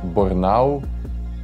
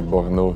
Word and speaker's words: Bornauw: you say your name in Flemish they say by now and in French they say but no so I don't care